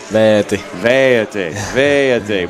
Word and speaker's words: Veeti: And, we call you, but actually in Finland, your name is pronounced. What's the actual pronunciation of your name? Veeti, which would be tough doing a broadcast.